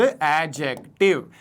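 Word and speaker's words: adjective: This is एडजेक्टिव। एडजेक्टिव नहीं बोलना है। एडजेक्टिव बोलना है। ठीक है? इसका प्रोनंसिएशन में डी साइलेंट रहता है।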